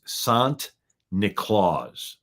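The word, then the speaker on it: Sint Nicolaas: The Dutch pronunciation of St. Nicholas is Sant Nicolaas.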